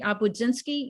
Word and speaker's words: Obudzinski: I'm sure if you're Juli Obudzinski, you wish people would say it routinely and pronounce it correctly.